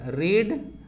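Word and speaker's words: read: और रीड रीड रेडी होता है, ध्यान दीजिएगा, रीड इसका भी रीड होता है और इसका भी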